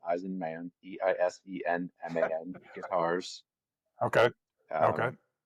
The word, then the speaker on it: Eisenman: I guess you have to spell it in that case, but it's like Eisenhower, but Eisenman, Eisenman Guitars.